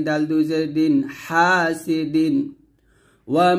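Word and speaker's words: حاسد: ওয়া মিং গুণা করবেন, ওয়া মিং শাররি, হা হাতে চাপ দিয়ে বলতে হবে হাসিদিন হাসিদিন।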